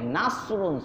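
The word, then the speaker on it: نصر: নাসরুন সোয়াদ দিয়া, নাসরুন সোয়াদ, নাসওয়াদ, সেখানে যদি আপনি সিন উচ্চারণ করেন, নাসরুন চিকন করে একটু মোটার জায়গা চিকন করে দেন, সিন হয়ে যায়।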